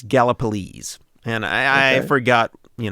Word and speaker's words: Gallipolis: over in Gallipolis and I had to look up how to pronounce that because I was saying it's something like gallopolis or something like that I don't know Galapagos yeah something like that yeah I think it's how I was pronouncing it during the Mothman episode yeah yeah so it's it's Gallipolis and I I forgot